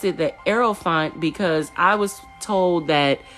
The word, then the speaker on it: Hierophant: Some people pronounce that as the Hierophant. I pronounced it the Aerophant because I was told that when these letters together, it's pronounced like air.